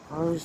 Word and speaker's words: Rhos: Wales North Wales hose rose on SE it's pronounced Rose r h o s on SE near colwin